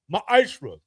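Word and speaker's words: מעשר: You can find this in numbers 18 to 21 in Malachi 3 8-10 means 10th in the Hebrew is pronounced maishra.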